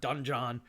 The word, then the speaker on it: donjon: Fun fact, dungeon is the actual like French word donjon, which is how it's spelled.